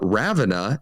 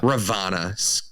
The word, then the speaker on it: Ravonna: turns out that uh ravenna is that how i say her name ravana yeah ravana excuse me was her assigned agent